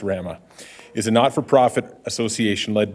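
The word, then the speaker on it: WRAMA: RAMA, as you may know, W-R-A-M-A, pronounced RAMA, is a not-for-profit association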